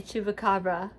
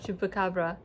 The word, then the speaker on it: chupacabra: playing the translation of chupacabra, and it's chupacabra. So you roll your R. I can't roll R's.